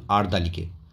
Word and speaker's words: আরদালি: দিলাম an orderly একজন আরদালিকে আরদালি সাধারণত যারা আর কি আদেশ পালন করে যেসব ব্যক্তিরা আর কি পুলিশদের তাদেরকে আরদালি বলা হয় আই সেন্ট অ্যান অর্ডারলি অর্থাৎ এটার উচ্চারণ হবে আর্দালি আমি আরদালিকে পাঠিয়ে দিলাম